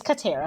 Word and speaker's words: Catera: like, wait a minute, is it tear or tear? Have I been saying it wrong all these years? You know what? You are the second person to ask that, but it is Catera. So Okay. tear, like rip.